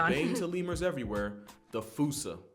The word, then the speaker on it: fossa: to lemurs everywhere, the fossa. Although with its spelling, I'm pretty sure it's actually fossa, but the day I pronounce it like that is the day I lay my childhood to rest.